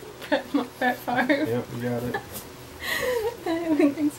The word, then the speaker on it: Favre: And his last name rhymes with Smarv. Brett Favre.